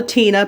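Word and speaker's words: tine: It's called a Tina, but it's spelled T-I-N-E.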